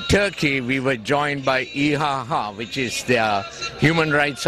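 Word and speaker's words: IHH: we came into turkey we were joined by iaha which is the human rights organization the foundation for human rights and human freedom IH goes by the initials but pronounced eaha okay it's a great organization uh they operate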